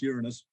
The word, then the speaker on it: Uranus: way they want to but it's generally correctly pronounced Uranus which kind of kind of takes the uh